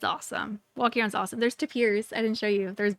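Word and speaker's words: tapir: They're pronounced taper. Huh. Yeah. I was going to say we used to always pronounce it wrong and I didn't. It's tapers.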